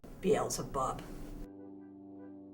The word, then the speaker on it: Beelzebub: Beelzebub. Accent on the bub.